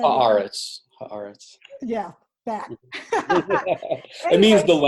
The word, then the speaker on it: Haaretz: that I got off of, how do you pronounce that? You said Haaretz.